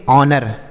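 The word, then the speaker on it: honour: एच ओ एन ओ यू आर इसे पढ़ेंगे ऑनर। ऑनर नहीं ऑनर। यहां पर एच साइलेंट होता है तो इसे पढ़ेंगे ऑनर समझ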